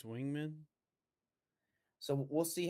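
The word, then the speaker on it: Weigman: see how good Connor is it Wegman? How do you pronounce his I last think name? it's Wingman.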